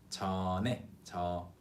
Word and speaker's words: 전에: And the pronunciation is linked. 전에.